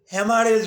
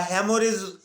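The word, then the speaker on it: hemorrhage: এটাকেই আমরা চিকিৎসাবিজ্ঞানের ভাষায় হেমারেজ বলি বা হ্যামোরেজ হেমোরেজ উচ্চারণ হবে হেমোরেজও বলা যেতে পারে বা হ্যামারেজ তো আমরা চিকিৎসকরা সাধারণত হ্যামারেজই বলে থাকি ইচ্ছা করলে আপনি হ্যামোরেজ উচ্চারণ করতে পারেন তাতেও কোন ভুল নাই এটা ডিকশনারিতে হ্যামারেজ হ্যামোরেজ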